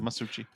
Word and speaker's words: Masucci: that's how he pronounces it anyway. Oh, okay, good. Masucci.